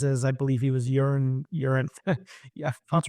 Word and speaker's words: Euron: fan would recognize as, I believe he was Euron. Yeah, That's right. Pronounce that Euron.